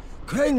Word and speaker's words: Crane: name is crane okay crane rhymes with train and brain and sang and Carl and rain and plane and the other kind of plane and and can I